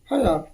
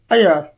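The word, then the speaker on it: heir: हयर, अयर क्या बोलते हैं, इसमें जो एच होती है साइलेंट रहता है, अय, अयर, अयर।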